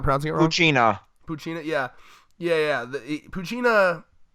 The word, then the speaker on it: Poochyena: chainsaw puppy you said it's how do you pronounce that just what I'm not proud Xena Poochyena yeah yeah yeah the Cucina machine is basically